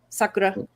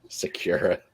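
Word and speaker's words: さくら: bet is named sakura now what gets me the worst is sakura secure it that really it's like nails on a chalkboard to me oh it's a me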